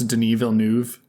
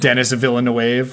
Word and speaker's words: Denis Villeneuve: You know how long it took me to figure out how to pronounce Denis Villeneuve? I was calling him like Dennis Villeneuve for so long.